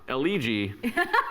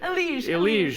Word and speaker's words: Elige: It's a sad one, and it's from CSGO Pro Eligi. I butchered that. Elige, excuse me.